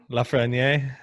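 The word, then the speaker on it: Lafrenière: Lafreniere.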